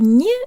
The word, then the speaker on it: не: to pronounce the word ni, or not. The word ni is a particle, and that means that most often it is not stressed, and the ye sounds like an e.